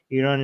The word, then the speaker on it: Iran: Iranians oh oh yeah how do you actually pronounce this Armen Iran Iran okay yeah okay yeah nice so yeah